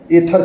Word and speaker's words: Aether: Company है वो है एथर ए ई टी एच ई our industry यानी एथर एनर्जी और एथर इंडस्ट्री दोनों को प्रोनाउंसिएशन सेम है।